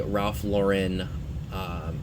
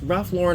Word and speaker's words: Ralph Lauren: a lot of the Ralph Lauren, it's Ralph Lauren or Ralph Lauren, I hear it pronounced both ways.